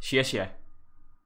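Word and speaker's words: 谢谢: Xie xie.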